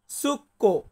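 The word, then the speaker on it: succo: juice বা শরবত এটাকে আমরা ইতালিয়ান ভাষাতে বলবো সুক্ো কি বলবো আমার সাথে বলুন তো সুক্ষ হ্যাঁ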